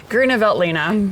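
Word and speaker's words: Grüner Veltliner: And um before I try and embarrass myself, I'm going to ask Lisa how to pronounce it again. Grunveltina.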